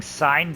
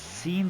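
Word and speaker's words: Cine: okay I kept saying sign then somebody told me it's pronounced scene like movie scene so all right I'm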